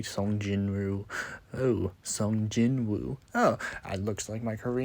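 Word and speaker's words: Sung Jinwoo: pronouncing his name wrong, calling him Sun Jong Wu when I really meant to say Sun Jinu.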